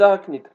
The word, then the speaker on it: arachnide: On commence par le groupe des arachnides, d'accord? On le prononce arachnide, et ça s'écrit arachnide, d'accord?